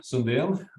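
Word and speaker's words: Sundén: and um I um Sundial and that's how my name is actually pronounced and uh I am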